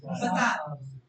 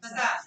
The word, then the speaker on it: facade: Next word we have facade. The word is facade. Facade नहीं, facade. Yes. D. वहाँ पे stress आएगा.